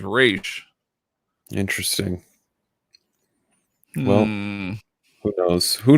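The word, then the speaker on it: Ra's: The more Arabic pronunciation, Raz. The official DC pronunciation of Raz is Raish.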